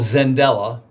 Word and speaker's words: Xendella: So we have a business called Zendella, spelled with an X, Xendella, Zendella.